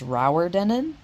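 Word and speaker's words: Rowardennan: got to our hotel here, and apparently it's pronounced Rauerdenen.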